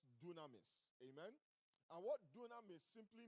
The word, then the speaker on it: dunamis: Some of us have heard that word before, and it is pronounced dunamis.